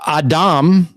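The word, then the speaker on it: אדם: let me show you this is an Aleph that's would be your a sound this is silent a silent vowels this is your Dolloff for your D here is the a and that's a M so a Dom okay when you have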